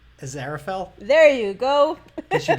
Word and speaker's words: Aziraphale: Aziraphale?